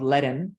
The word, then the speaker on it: Ledn: So, for example, a company that we invested out of our fund one, a company called LATAM, and it's spelled LEDN. It's the play on words on huddle and lending.